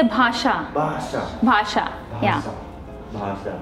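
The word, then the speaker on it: भाषा: In Hindi we say bhasha.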